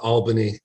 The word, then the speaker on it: Albany: need to be pedantic it's pronounced uh uh Albany and I only know this because there was a huge uh campaign by the the tourist industry uh there was a slogan that said we got it all in Albany just to make people uh remember uh the correct way it's pronounced it's really helpful I'm